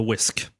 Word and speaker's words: whisk: of funny because they they pronounce the H before the the W.